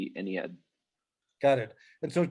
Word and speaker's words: Ennead: but the stress is here. And the other one, however you spell it, the stress is here. Ennead. Ennead, yes.